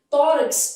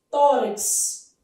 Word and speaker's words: tórax: Tórax é um caso de dívono. Tanto faz KS ou CS. Tórax. Esse X assim chama difono.